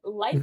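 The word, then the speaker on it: LYFE: Yes, so it's the Life app.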